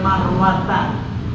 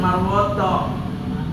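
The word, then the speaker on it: المروة: ayat al-qur'an ya innofa Wal marwata bukan marwot ya Min sya'airillah jadi naik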